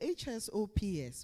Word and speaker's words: HSOPS: And the HSOPS, we pronounce it as HSOPS.